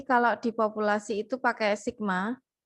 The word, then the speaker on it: sigma: di populasi itu pakai sigma ini bacanya Sigma ya Sigma kuadrat sedangkan kalau variasi